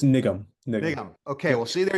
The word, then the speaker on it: Nigam: Is that the right pronunciation of Nigam? It's Nigam.